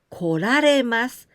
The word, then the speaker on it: 来られます: 来ます to come, it changed to 来られます. The same kanji, this one き, but here we pronounce こ. 来られます.